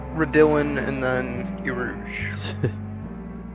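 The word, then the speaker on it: Raidillon: Looks like it's Radillin and then Eau Rouge. Is that the pronunciation? Redillon?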